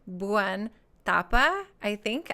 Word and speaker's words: Thapa: say your name buan tapa I think I think that th does the like thali and um I am